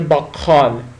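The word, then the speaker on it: bakkal: که بگم در زبان ترکی ک رو درست نمیتونن تلفظ کنن ک می‌زنه به خ یعنی این میشه باقال باقال می‌زنه به خ یعنی بین ک و خ تلفظ میشه مثل چی مثل مثلاً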